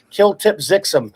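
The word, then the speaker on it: Kltpzyxm: bit yeah yes and that's pronounced by the way the you know superman has to say mr mitch has filled his name backwards and it's of course kill tip zixum stephen stephen thompson just in case you're worried wondering about how it's pronounced oh my goodness uh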